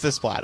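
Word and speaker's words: Alexandre Desplat: Alexander Desplat. Yes, I know it for a fact. Come on. Why do you think it's pronounced? Well, I can't remember, but I don't think it's that. It is Desplat.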